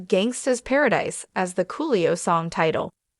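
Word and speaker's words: Gangsta's Paradise: the Alex trebec days counted off someone for saying gangster paradise instead of Gangsta Paradise as the Coolio song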